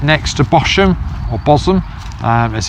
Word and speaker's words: Bosham: And the key to Fishbourne Roman Palace is that it's right next to Bosham, or Bosham as it's pronounced, and this is a water inlet from